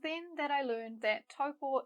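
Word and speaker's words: Taupō: It was then that I learned that Taupo is a Māori place name, and so we should use Māori sounds to pronounce it.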